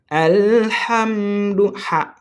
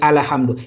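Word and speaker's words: الحمد: On répète alam. OK. Ha et ce n'est pas alam ou bien al hamdou. Il y a certaines personnes qui vont dire ala. Ce n'est pas ala, c'est al.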